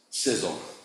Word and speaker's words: SSL: in the early days pronouncing SSL as Sizzle I was not a